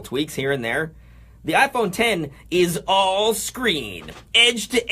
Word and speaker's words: iPhone X: the iPhone X which is apparently actually just a Roman numeral 10 so it's pronounced iPhone 10 Apple CEO Tim Cook